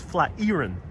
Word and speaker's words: Flatiron: No, Flatiron is not some old Dutch name. Flatiron is quite literally named after a flat iron. What you use to, press your clothes. So yes, it is pronounced flat iron.